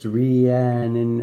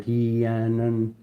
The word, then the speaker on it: Rhiannon: Um, inner strength meandon pronounced Rian or hean is a Welsh lady of the other world whose name means great queen.